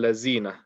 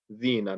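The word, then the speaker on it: الذين: People say siratal lazina, z. So do you mispronouncing the dal and turning into a za? That's incorrect. So you want to say siratal ladina. Make sure you're only touching the top teeth with the letter dal.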